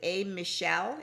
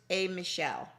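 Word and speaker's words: A'Michealle: yes a is it a michelle is it pronounced michelle that's it it's pronounced michelle and so what is a michelle um so a michelle is a a non-profit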